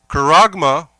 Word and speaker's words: charagma: Charagma, okay? Let me see. Let me spell it out again.